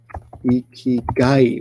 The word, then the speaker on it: 生き甲斐: And put them together, notice the pronunciation changes to ikigai with a G. Ikigai, like so.